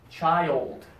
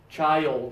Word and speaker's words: child: and then old okay child okay child it rhymes with wild okay it's best to